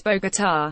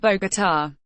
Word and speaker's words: Bogotá: Pompeo needs to know is it's Bogotá, accent on the last syllable, not Bogotá.